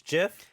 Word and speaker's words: GIF: it's a gift but the creator said this jiff like that we've been saying kids for here look kid my whole up right now he says officially it's jiff that's what he said